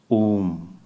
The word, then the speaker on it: Om: Omkara is a 3-syllable word. Akara, Ukara, Makara. Om. That's how the pronunciation is, but Mandukya Upanishad and